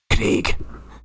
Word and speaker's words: Craig: The correct pronunciation is Craig. Like that. That's the only acceptable way.